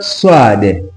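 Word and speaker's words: ص: Then tuko na herufi kama swad. Swad. Swad inakaa hivyo. Swad tunaipronounce kama SW. Na kuna herufi inafanana kama swad yenye ni dhwad. Dhwad ni D HW. Swad SW. Swad SW.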